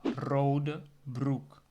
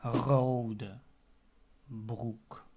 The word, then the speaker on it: rode broek: The color red, the R is the first letter of the word. That means I can also use the second pronunciation of the R, which is the R, right? The second one. So I can say rode broek. Okay? Instead of rode broek, I can say rode broek. Can you hear the difference? So that's with the gargling sound.